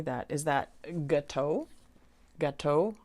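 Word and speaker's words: gâteau: Is that gateau? Gateau. I know it's an O at the end. That's a French word.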